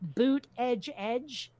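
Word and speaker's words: Buttigieg: booty judge keeps saying his name is pronounced boot edge edge that that's how you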